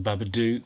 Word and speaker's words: Babadook: The Babadook, or the Babadook, if you want to pronounce it properly.